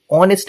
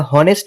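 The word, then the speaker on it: honest: কি সাইলেন্ট তাহলে তার আগে আমরা এন বসাব সাইলেন্ট এইচ এর আগে যেমন আরেকটা এক্সাম্পল কি? অনেস্ট ম্যান। আমরা হনেস্ট ম্যান বলি না।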